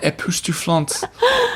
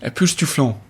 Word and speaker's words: époustouflant: You can still have an époustouflante experience. You don't pronounce the T. Époustouflant.